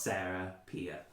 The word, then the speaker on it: Serapia: The most impressive was the planet named Serapia, spelled Serapia, but it's pronounced Serapia.